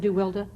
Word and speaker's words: DeWilde: Brandon DeWilde. What a tragic life. What a wonderful his young name actor. DeWilde, yeah. I never knew Is why. it Brandon DeWilde? Yeah, Wonderful he actor. liked it pronounced that, yes.